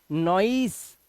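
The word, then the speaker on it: noise: ऑयल ऐसे ही नोई नॉइस नॉइस अब नॉइस सी मत पढ़ना नॉइस सी लास्ट का ई साइलेंट नॉइस ऐसे ही जॉई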